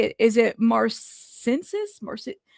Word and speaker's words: marcescence: Marcescence. There you go. Marcescence.